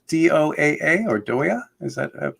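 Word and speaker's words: Doaa: Yeah, my name is Doa.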